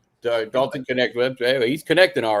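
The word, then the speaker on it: Knecht: Dalton Connect. Dalton Connect.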